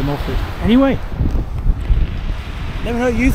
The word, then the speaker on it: Moelfre: the Welsh pronounce it mul because it's 1 F they pronounce one f as V's so it's mul but I I say mol anyway never me know